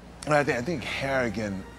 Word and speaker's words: Harrigan: I think I think Harrigan rhymes with arrogant it's a good way